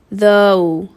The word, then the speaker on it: though: The first word I want to review is though, oh.